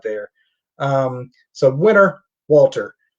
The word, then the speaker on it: Walter: there um so winner walter uh or walter i guess uh using the austrian pronunciation a loser of the